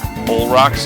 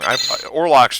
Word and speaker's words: Olrox: I always say it wrong. Orlox just sounds better to me, but I know it's based on vampire lore or some nonsense like that, so we should probably say his name right.